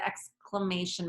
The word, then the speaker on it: exclamation: to say the word exclamation mark so X class may Shen for syllables stay with me when we break up the word into syllables that helps us pronounce the word correctly so X class may